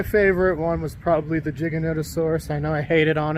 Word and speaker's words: Giganotosaurus: it, but my favorite one was probably the Giganotosaurus. I know I hated on it. Oh, you mean Giga? Giganotosaurus. Gigantosaurus Giganotosaurus.